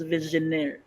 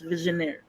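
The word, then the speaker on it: Vigenère: word and I ask my friend accordingly It's pronounced as visionaire ma j listen It's visionaire okay the word though is this is Actually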